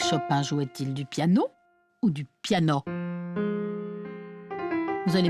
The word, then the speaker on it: piano: un tabac vers 1830 le mot piano se prononcer avec a au final ouvert piano comme abri corps cacao ces roms et tous